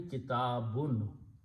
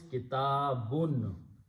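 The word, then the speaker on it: كتابٌ: If I pronounce the word and write down how I'm pronouncing, it is actually kitabun. So instead of writing noon, I'm writing two pesh or two dhammas, but the sound is kitabun.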